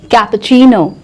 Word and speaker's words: cappuccino: Cappuccino, cappuccino, cappuccino नहीं, cappuccino, cappuccino. Listen and repeat.